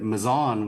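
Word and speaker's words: Mazon: and national meetings to to tell everybody that mison was actually the the correct pronunciation.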